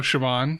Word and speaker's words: Siobhan: say her name how do you say oh siobhan siobhan siobhan fallon hogan yeah she um she's